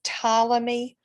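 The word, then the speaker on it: Ptolemy: astronomer and scientist and you don't pronounce the P it is tmy or tus if you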